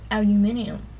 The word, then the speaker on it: aluminium: it it's like naturally aluminum but in Britain they say aluminium I've heard yeah envelope